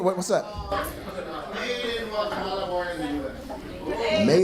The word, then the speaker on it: Guatemala: Guatemala. You hold on to that M a little longer. Guatemala. I like that So you were born there. Here. What? What's up? Made in Guatemala, born in the US.